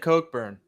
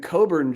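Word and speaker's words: Cockburn: i gonna weigh up well they pronounce it coke burn coke yeah but after tonight it should be pronounced dead differently i think i was saying coburn just now sheesh i think that you're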